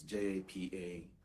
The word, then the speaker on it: japa: It's J-A-P-A, pronounced japa, and it means to flee.